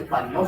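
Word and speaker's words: Parinaud: Se llama signo de Parinó, se escribe Parinaúd.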